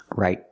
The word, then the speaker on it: right: no she's not right right put the tongue up to stop the air let's practice is she